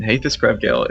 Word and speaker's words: Hathus Krevgale: Hathus Krevgale is the way that you pronounce it. So you nailed that right out of the gate.